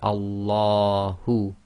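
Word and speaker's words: الله: So we say Allahu. Again, the lam of Allah is tafkhim because we're reading it as if there's a fatha before it.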